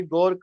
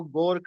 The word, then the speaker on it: Grok: और इसका जो सही स्पेलिंग है वो गोर्क नहीं है, वो है GROK, ग्रोक है ये, जो यहाँ पर जारी किया गया है।